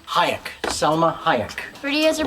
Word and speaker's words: Hayek: How do you pronounce her last name? Hayek.